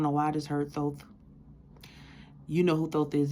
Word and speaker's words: Thoth: I don't know why I just heard Thoth. You know who Thoth is. If you do not know who Thoth is, please go through Thoth Thoth.